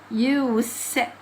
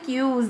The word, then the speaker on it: use: تفرق الكلمه دي جايه لو كلمه يوز جايه فتنطق فتنطق فتنطق ساوند يعني لكن لو الكلمه دي جايه ازلناهم فاتنطق وساوند يبقى يوس طب يلا نشوف الكلام